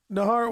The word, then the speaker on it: Naharo: Naharo. What's your last name? Naharo? Yeah, man. Naharo? Am I saying it right? Yeah, dude. That's a few people get it right.